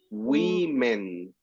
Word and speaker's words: women: When you see the, let's say the letter E, this is like men. Men. Mhm. Man. And this is women.